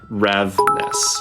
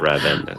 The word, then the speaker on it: Ravness: It's Ravness, not Ravenous.